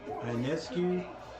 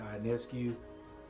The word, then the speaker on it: Ionescu: Ionescu. Maybe that's how you say it. Ionescu. Okay, that's how we're gonna say it. Ionescu.